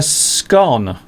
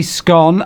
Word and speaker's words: scone: So you say scone, I would say scone. So Mr. Steve says scone, and I say scone. So there are two ways of pronouncing the name of this particular type of...